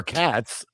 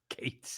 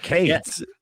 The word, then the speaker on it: Cates: this shit, because because it sounds like Mark Spitz, their manager, or Katz. Cates is how you pronounce it. Mark Cates.